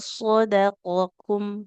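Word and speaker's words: صَدَقَكُمْ: Antara qaf dengan kaf beda di tebal hurufnya ya. Kalau huruf qaf kan dia kita baca dengan kondisi tebal. Oh. Kalau kaf tipis kum. Walaqad shadaqakum.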